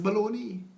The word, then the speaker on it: bologna: But it's baloney.